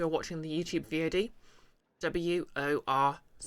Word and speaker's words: Worcester: who can't who are watching the YouTube VOD w-o-r-c-e-s-t-e-r pronounced Worcester the arasan the Sea of silent the